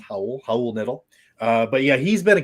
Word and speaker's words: Raul Neto: be on, but it's Raul Neto. It's sort of spelled Raul. Raul looks like, but it's actually pronounced Raul Neto.